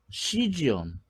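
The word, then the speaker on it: cesium: 우리는 세슘 그러지만 이제 미국 애들은 이제 영, 시지엄, 시지엄이라고 발음을 많이들 해요.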